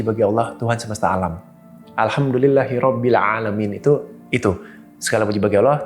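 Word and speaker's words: الحمد لله رب العالمين: Di ayat di depan deh, Alhamdulillahi Rabbil Alamin. Tapi ada orang bacanya pakai alif biasa. Alhamdulillahi Rabbil Alamin. Itu artinya udah beda Mas ternyata.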